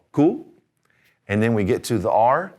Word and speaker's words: cu: The letter Q is called cool.